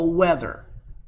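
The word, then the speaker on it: wether: male is called a weather okay just like saying hey the weather is really hot today it's just spelled differently and then offspring of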